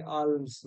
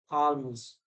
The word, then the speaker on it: alms: knuckle L Al alms you used to say alms but it is alms bomb PE silent psyche